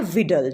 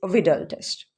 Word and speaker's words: Widal: को कहा जाता है विडल टेस्ट। ठीक है, WIDAL। काफ़ी लोग इसको वाइडल पढ़ते हैं और काफ़ी इसको विडाल पढ़ते हैं, बट it's exact pronunciation is विडल टेस्ट।